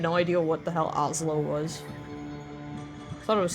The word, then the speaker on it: Oslo: And I always be like, you know, like Oslo, like the capital of, what is it, Norway?